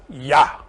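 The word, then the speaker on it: יה: God, as creator, is here in that, because in that, the first triangle, Keter Choma Binah, becomes Yod He, which is pronounced Yah.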